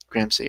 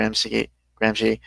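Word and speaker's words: Gramsci: GMS gr gr C gram C okay I'm always confused if the C sounds like a k or not you know it's like in this case it sounds like an sh gr she okay anyway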